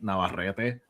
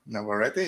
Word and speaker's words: Navarrete: Like Navarrete sounds like a powerful name. Yeah, like someone's gonna rip your heart out. Which never ready. Never ready.